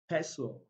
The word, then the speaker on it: pestle: So we have castle, we have Christmas, Christmas, wrestle, wrestle, catch, catch, asin, asin, apostle, pestle, rapport.